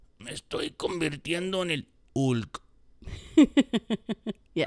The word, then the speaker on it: Hulk: Me estoy convirtiendo en el Hulk. Yeah. Right, because we don't pronounce the H, right? Right. Hulk.